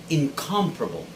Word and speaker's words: incomparable: right it's incomparable incomparable the stress should be on the second syllable and there should be no other stressed syllable within this verb but only that syllable calm so it should sound like incomparable most americans would say incomparable filipinos would normally say incomparable okay putting the stress on the third syllable but if you check your merriam-webster dictionary it is incomparable clear our 19th word